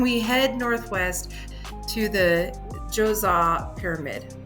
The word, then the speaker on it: Djoser: head northwest to the Djoser Pyramid. I know it doesn't sound like it should sound like that, but that's how Djoser is spelled.